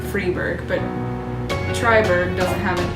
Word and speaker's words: Freiburg: If there's an E after an I, I know it's E, like Freiburg is spelled F-R-I-E, Berg, and you pronounce it Freiburg, but Triberg doesn't have an E after the I.